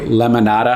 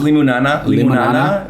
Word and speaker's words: limonana: A drink from Hummussiah, great lemonada. I always say it wrong. It's limonana. The nana is a common plant, I guess you would eat in the Middle East, and you add it